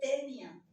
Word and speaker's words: Taenia: la el género taenia se escribe taenia pero se lee tenia Sí pero siempre les